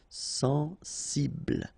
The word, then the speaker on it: sensible: accent aigu et sensé sensible OK final pronounced ble will be the last sensible similaire so final not